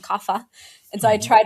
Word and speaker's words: Kapha: And either you are Vata, Pitta, or Kapha, like you said, and in the West we pronounce them Vata, Pitta, and Kapha.